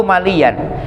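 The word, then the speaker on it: مليًّا: Qaulu maliyan bitasydidil ya, bacanya maliya.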